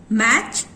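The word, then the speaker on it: match: Okay, वॉच, मैच, लिजन। सो T sound स्ट होता है मगर टी की साउंड कहीं पे भी सुनाई नहीं पड़ती।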